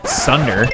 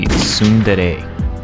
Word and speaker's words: tsundere: Sunder. Yo, what's up, guys? Editor Zane here. So the pronunciation of that word is actually tsundere.